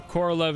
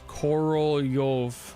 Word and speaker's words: Korolev: So Korolev is probably pronounced as Korolyov.